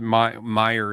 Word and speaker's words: Meijer: So Patrick wants to know what Meyer is. It's spelled Meijer, and it was a man.